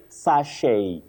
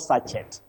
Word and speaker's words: sachet: Then your last word you say sache. Sache. Not sachet. Sachet. Avoid that. Sache.